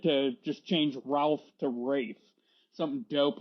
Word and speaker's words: Ralph: Also, did you say Ray Fiennes? Is that how his name is pronounced? Yeah, I thought it was Ralph Fiennes, but every time that I've heard someone like interview him or talk to him, it's always Rafe.